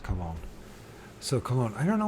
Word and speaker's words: Cologne: These words, they got more than 2 syllables in it. I just stumble. Cologne. Of course, it's Cologne.